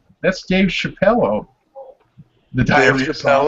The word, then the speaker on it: Chappelle: See, I didn't even know the Dave Chappelle reference.